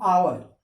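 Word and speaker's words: hour: एन आवर, आवर आ का तो इसका साउंड आता है, एच साइलेंट हो जाता है, तो पहला साउंड है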